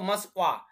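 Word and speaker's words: Москва: Moscow বলছে যে কি দেখো মাস্কওয়া মানে উচ্চারণটা হচ্ছে এরকম মানে মস্কো যেটা হচ্ছে যে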